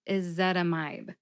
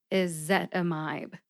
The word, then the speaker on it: ezetimibe: together and you get is that a mibe and remember emphasize zet see if you can hear all the syllables and that one with the emphasis when I say it slowly is is zetamide how did I crack